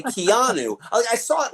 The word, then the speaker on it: Keanu: grew up with constantly is pronouncing Keanu Reeves name wrong saying kinu and he kept correcting us when we say Keanu I saw it like spelled phonetically in Rolling